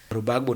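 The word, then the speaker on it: Gbagbo: He used to pronounce that thing like Loro Bagbo. When you read it, it's Laurent Bagbo.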